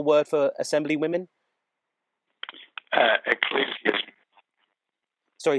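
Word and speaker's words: Ecclesiazusae: one the original word for Assembly women uh ecclesias sorry say that again so it's Ecclesia zusa am I breaking up yeah you did just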